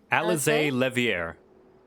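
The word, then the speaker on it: Alisaie Leveilleur: of propriety how did you say her name alize levier alice levier oh so pretty i thank you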